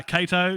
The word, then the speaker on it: Cato: great poached trout uh cato yeah yeah with a k sound um yeah this is